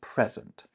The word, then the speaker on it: present: The dot over the second E told you that it's that sound. It's present.